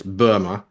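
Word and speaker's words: Böhme: I think uh European philosopher German guy it's spelled like Jacob Jacob Bohem but it's it's Burma and it's called the u it's called the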